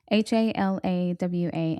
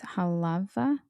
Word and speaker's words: Halawa: It's Halawa, and their W's are pronounced V. So it's Halava.